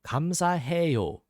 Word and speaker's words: 감사해요: We've got the 감, 사, and like we said earlier with the hello, 해, and we can think like, yeah, well, 해, 요, 감사해요. So 감, 사, 해, 요. 감, 사, 해, 요. A little faster, that would be 감사해요. 감사해요.